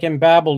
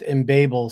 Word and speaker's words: Embabel: It looked like Embabel to me, but if you look on the web page, they do claim that it's pronounced embable somewhere in here.